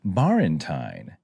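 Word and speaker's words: バレンタイン: of Endearment uh so instead of saying Valentine you can say barentine because Valentine is an imported word into Japanese so the pronunciation is similar to English okay so I got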